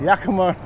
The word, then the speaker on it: Yakima: Yeah, Yakima.